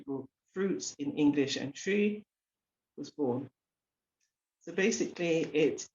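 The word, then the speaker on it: Twi: I decided that I wanted to learn one of the local dialects, which is Tree, spelled T-W-I, but it's the T-W is pronounced Tree.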